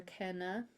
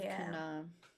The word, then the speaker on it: Kana: My mummy, some people call her Kenna instead of Kana, and they do not say her name proper.